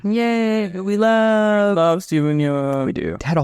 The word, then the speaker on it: Yeun: Yay, who we love Steven Yeun. We do. It had a whole thing where he was like, "My name's pronounced Yeun, not Yoon," and it was on Conan and shit.